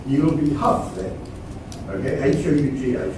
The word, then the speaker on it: Hough: Okay, H-O-U-G-H, pronounced in Scottish English as Hough. And so Hough he was for the rest of his life, because up until that moment, he thought of himself as Hal.